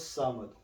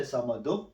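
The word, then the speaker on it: صمد: So here, Allahus samadu. So when you stop, you don't say samadu, you say samad.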